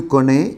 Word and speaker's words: connais: See, je connais, the S is not pronounced, tu connais, il, elle connaît, the same pronunciation we have.